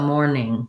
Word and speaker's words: morning: or more morning uh the other challenge here may be that the n-i-n-g sound that second syllable is challenging just watch out that for the n sound in mourn the front of your tongue lifts and in the n-g